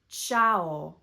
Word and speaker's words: Tschau: t s c h ch For example, Tschau. c k make the sound k.